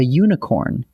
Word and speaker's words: unicorn: And we say a unicorn because unicorn starts with a U sound, which is a consonant sound.